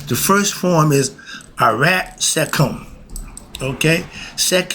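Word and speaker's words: Sekhem: The first form is arat secum. Okay. Sec. We spell it s e k h e m. Seek him that means meditating on the subtoal life force.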